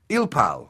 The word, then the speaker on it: ilpal: from the fact that january the 8th is pronounced in korean as ilpal 1-8 but the korean word